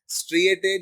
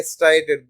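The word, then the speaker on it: striated: एज a result they also called स्ट्रिएटेड या स्ट्राइएटेड, दोनों pronunciation हम करते बहुत बार।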